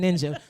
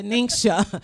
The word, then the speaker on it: NingXia: just with the ningxia it's pronounced i'm gonna get it i'm not gonna keep saying ninja the ningxia i drank some last